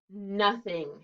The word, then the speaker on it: nothing: nothing here we go n o t h i n g nothing it's like no thing but we pronounce it nothing close those eyes and